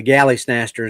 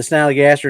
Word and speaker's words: Snallygaster: Because remember, Wild Bill called it the Galley Snatcher instead of the Snallygaster. That's right. Galley Snatcher. Because they were talking about the Snallygaster and he couldn't say it right. He kept saying the Galley Snatcher. And they're like, "No, Bill, Snallygaster. That's what I said."